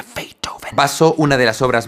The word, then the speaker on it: Beethoven: Hoy vamos a hablar de la melodía en la que Ludwiig Van Beethoven se pronuncia Feitoven.